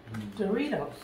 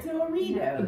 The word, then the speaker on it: Doritos: Doritos. It's spelled D-O, not D-A, not D-E. Who said that? D-O. Doritos. Brooke says Doritos. It's Doritos. No. Jack, where do you stand on this? Doritos.